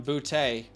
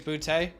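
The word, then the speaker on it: Boutte: booty i mean i think it's bootay it's booty i'm calling him booty you think it's booty i think i mean literally every announcement announcer is saying booty so yeah i mean so he's saying it wrong this is we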